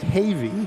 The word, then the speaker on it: Heavey: Anyway, Scoop Heavey. You talked about Scoop. It's actually pronounced Havey.